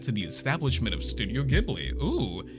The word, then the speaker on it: Ghibli: From the Valley of Spirits, the film that led to the establishment of Studio Ghibli. Ooh, it's pronounced Ghibli. Ah, it's pronounced Ghibli. It's spelled Ghibli because the name came from an Italian fighter plane that Miyazaki loved.